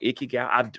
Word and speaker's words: Ikigai: I think it's called Ikigai. I've read it, but I don't know if it's spelled.